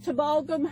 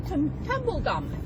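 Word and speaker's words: Tumbulgum: And I'm at Timbalgum.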